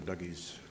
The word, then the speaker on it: Dougie J's: So, we encourage people to go to Dougie's. It is Dougie's, right? Not It is Doogie.